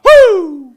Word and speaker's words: Wu: Woo!